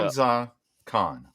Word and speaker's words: Hamza Khan: Hamza Khan. Hamza Khan. All right. But I wouldn't say it like that. Hamza Khan. Yeah, there's a space between his first and last name.